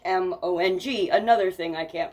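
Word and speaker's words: Hmong: Joel was Hong h m o n g another thing I can't pronounce um and it was released in 1992 maybe that's just Mong maybe the H is silent um and so later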